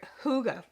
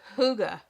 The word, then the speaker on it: hygge: Okay, and so I was looking up the word Hygge.